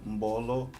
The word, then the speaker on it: Mbolo: A letra M e a letra N servem para nasalar o som da sílaba seguinte. Dois exemplos. Mbolo, Ngongo. Mbolo, Ngongo. Se vocês repararem bem, eu li Mbolo e Ngongo. Não. Mbolo nem Ngongo. Lê-se Mbolo, Ngongo.